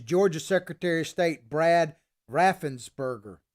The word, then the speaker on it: Raffensperger: secretary of state brad raffensberger raffensperger i guess that's how you say his name make it give i